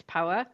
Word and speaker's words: Paua: Paua as in power, which is what people get confused with.